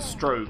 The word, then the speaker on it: Strogg: Well, then again, Quake 2, there was a Strogue or Strogger. I think it's pronounced Strogue, even though it's spelled Strog.